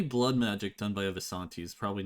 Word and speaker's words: Vistani: I agree, Visanti does sound cooler, but they are actually called Vistani.